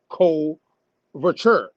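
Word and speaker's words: coverture: r t r e and how I pronounces a CO vure that's my way of saying it now you might say say it differently as as the English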